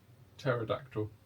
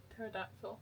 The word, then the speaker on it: pterodactyl: Um Pterodactyl. Pterodactyl. Cuz the P is silent.